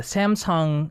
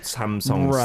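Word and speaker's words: Samseong: Although, it's pronounced the same way in Korean, right?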